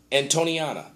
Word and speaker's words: Antoniana: an anton antonia and antoniana. Antoniana, that's how you say it.